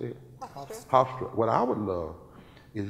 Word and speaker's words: Hofstra: Hofstra.